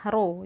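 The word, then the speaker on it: rho: yang ini tuh adalah roh Jadi kalau ditulis dia tulisannya adalah erhao tapi dibacanya Roro kemudian Oke sorry i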